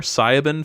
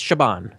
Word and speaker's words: Siobhan: And And I want to apologize to any of our listeners that had to hear our pronunciation. What did we call her? Sabin Fallon.